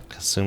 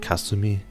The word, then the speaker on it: Kasumi: how there's uh Kasumi Kasumi is like a very American way to pronounce ah I feel like I should be like cuss to me I was confused by